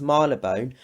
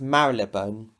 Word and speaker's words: Marylebone: with direction towards London Marlow bone or is it marylebone I don't know because according to the baker Lou line it's pronounced Milo bone but according to Children Railways it's pronounced marylebone so I guess you guys